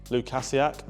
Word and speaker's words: Lukasiak: Is it Lukasic? Lukasiak.